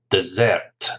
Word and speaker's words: dessert: usually sweet is a dessert dessert again remember the pronunciation stress on the second syllable dessert and it says